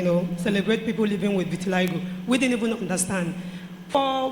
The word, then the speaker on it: vitiligo: 2009 I had noticed there's no word is vitiligo you know you didn't pronounce it well I needed to correct that